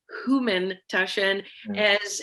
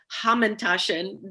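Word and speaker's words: Hamantaschen: So first of all, I want to point to the way that you pronounce it. I'm very curious about the Humantashen as opposed to the Hamantashen that a lot of people say here in the United States, or in Israel, Ozen Haman.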